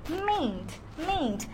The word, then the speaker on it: mayn't: উচ্চারণটা কেমন? বাংলাতে উচ্চারণটা এরকম, মেইন্ট।